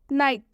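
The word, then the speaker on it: night: नाइट, नाइट में आप देख सकते हैं कि एच का उच्चारण नहीं हो रहा है।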